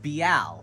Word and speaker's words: Beal: So it's Beal, where you actually get to pronunciate extra letters, which I like to do.